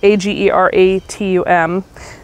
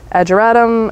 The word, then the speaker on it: Ageratum: It's spelled A-G-E-R-A-T-U-M. Ageratum, Ageratum, I butcher it, and don't kill me for it, but they produce these beautiful little sets of purple flowers.